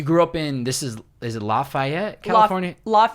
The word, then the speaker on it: Lafayette: And you grew up in, is it Lafayette, California? Lafayette. People pronounce it different ways.